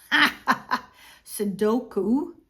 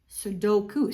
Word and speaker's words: Sudoku: So, Suduku sud no sodoku. Sudoku. See, I'm pronouncing it wrong.